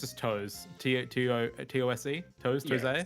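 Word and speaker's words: TOSE: Developed by, I don't know how to pronounce this. I think it's just Toes. T-O-S-E? Toes? Yeah, Toes?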